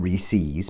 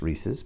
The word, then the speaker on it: Reese's: bag of reese's pieces that's not reese's because they're supposed to rhyme with pieces reese's pieces right found to be 13